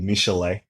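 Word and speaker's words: Michel'le: Her name is spelled like Michelle, but it's there's an pronounced apostrophe Michelet. in there somewhere.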